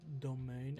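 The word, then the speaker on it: demesne: But you begrudge giving up any possibility even if it may be but a nent spark is pronounced as domain and is related to property especially the lands around a noble's manner.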